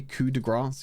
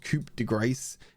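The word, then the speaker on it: coup de grâce: it by the way coup de grass you ignore the p and you ignore the grace that again it's not Coupe De Grace it's kudra that's how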